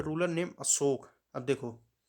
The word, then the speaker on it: अशोक: अब देखो, अशोक है, अशोका है, अशोका नहीं कहते, सही नाम अशोक ही होता है। कई बार इंग्लिश में बोलने के लिए जो ए शब्द है लास्ट में, उसको हम लोग प्रोनाउंस कर देते हैं, पर अशोक ही होगा, ठीक?